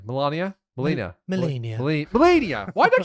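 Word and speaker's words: Malenia: Pronounce it. Oh, shit. Oh, you forgot, didn't you? I keep saying Melania. Melania? Melania.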